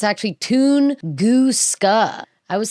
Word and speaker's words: Tunguska: So, it's actually Tunusa. I was saying Tungusa, I think, cuz it's spelled like it would be pronounced Tungusa, but it's not.